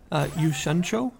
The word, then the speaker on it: 酉閃町: Yushancho, I believe is how you pronounce the sort of subtitle that you see there.